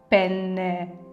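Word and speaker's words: penne: чи замовляєте в ресторані осьці пене з двома ни там друга ни не просто так добре вимовляйте пене бо якщо скажете з одною Ни то означає що чоловіч слітевий орган все Бачите прошу дуже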